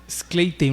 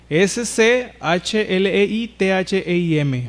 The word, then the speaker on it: Schleitheim: Schleitheim, lo estoy pronunciando así para luego lo van a publicar ahí, pero Schleitheim se escribe S-C-H-L-E-I-T-H-E-I-M.